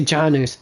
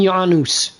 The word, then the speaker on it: Janus: in J Janus corter I know they say Janus Janus corter but it's pronounced freaking yanus damn it and they're